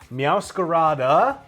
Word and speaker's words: Meowscarada: Meowscarada adds an extra syllable for no real reason.